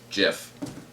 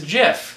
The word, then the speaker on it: GIF: behind him and peanut butter that says it's pronounced Jeff cool huh it is Jeff mhm I think I always did say GIF